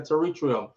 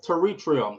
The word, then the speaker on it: pterygium: I said, say the word for me again. She said pterygium. I've always seen the word. I don't know how to spell it, how to pronounce it. So I always use surfer's eye, which is another term. She says pterygium.